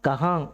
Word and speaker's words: कहाँ: ஆனால் அந்த கஹாங் எங்கேன்னு உச்சரிக்கும் போது, அந்த எங்கேங்கிற வார்த்தையை உச்சரிக்கும் போது கஹாங் இங்கு உச்சரிப்பு வரும். சரிங்களா? அதுக்காக தான் நான் சொன்னேன், இந்த கஹாங்கிற வார்த்தையை கொஞ்சம் கவனமாக உச்சரிங்க. உச்சரிக்கும் போது இங்கு உச்சரிப்பு சைலண்ட்டாக இருக்கணும்.